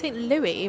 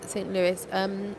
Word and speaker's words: St. Louis: Wait, is that pronounced St. Louis, right? That's how we say Louis here. I've heard people say St. Louis.